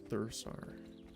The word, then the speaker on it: Thursar: My brain wanted me to read it as like Hussar, like winged Hussar for a moment. But it's Thursar.